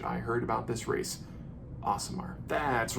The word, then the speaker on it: Aasimar: day in which I heard about this race awesomer that's right awesome art and that is how you pronounce that that is straight from Chris Perkins